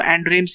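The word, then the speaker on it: Xandrames: X actually में silent रहता था, तो एंड्रेम्स ही होगा वो, ठीक है।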